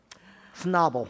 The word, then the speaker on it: Schnabel: The pronunciation is schnabbles don't wobble. Snobble. If you're familiar with the Weeble Wobbles.